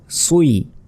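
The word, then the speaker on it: صِ: scene যে সি কিন্তু সজের সি হওয়ার কথা আসলে সি হবে না এটা কিন্তু আমরা যারা কোরআন পড়েছি আগে আমরা অনেকেই জানিনা ভুল উচ্চারণ করি অনেকেই তো এখানে সজের হয় সুই এটা মনে রাখবেন সুই সুই সুই তারপর বজ্যের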